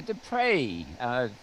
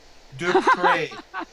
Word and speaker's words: Despres: only people who can pronounce my last name in its correct French beauty.